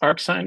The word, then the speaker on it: arcsin: Arcsin, arcsin, they're both pronounced arcsin. It's just two different ways to write it.